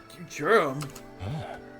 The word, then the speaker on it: Futurum: Futurum. That's the name of this planet. That's how it sounded pronounced in the local tongue.